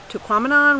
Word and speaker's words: Tahquamenon: so we are at taquamanon falls and even the little sign that when we get here says to quaminon rhymes with phenomenon so we are saying